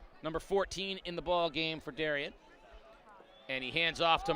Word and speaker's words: Darien: Is it Darien or Darien? Darien. I know. I'm not from there, so Sure. I've heard it pronounced both ways.